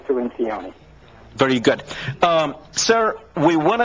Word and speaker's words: Cirincione: It's Cirincione. You know, somebody told me that, and he's now watching, and he's going to say, you should have said it like I told you, because he taught me how to say it that way, the Italian way. Well, he's very gracious and very sophisticated, but I usually say Cirincioni.